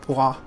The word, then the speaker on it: pois: me that the French word for pea is pronounced pois.